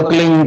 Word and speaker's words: क्लीं: की मात्रा और बिंदी, उसका उच्चारण होगा क्लींग। गा की ध्वनि निकलेगी पीछे।